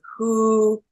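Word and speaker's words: 呼: um so then the next sound is who as in Hoover and this is as in hoener if you prefer um but this sound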